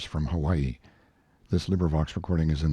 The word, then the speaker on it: Hawaii: seven section eight of mark twain's letters from hawaii this librivox recording is in the public domain